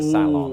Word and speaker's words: salon: Instead, they might say the salon. Ooh, that's true. Except they place the emphasis on the second I've syllable, heard that.